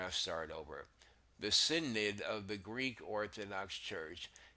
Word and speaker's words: synod: This word, I used to call it synod, which is like what it looks like, but the proper pronunciation is Synod.